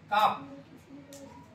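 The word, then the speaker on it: calf: সি এ এল এ কাফ বলো এখানে কাফ এল টা হচ্ছে সাইলেন্ট লেটার তাই না কাফ কাফ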